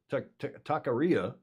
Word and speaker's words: taqueria: Dennis Conner had a favorite taqueria.